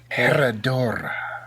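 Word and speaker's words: Herradura: Come on, boy, roll them R's. Yeah, you're right. Herodora. Yeah, there you go.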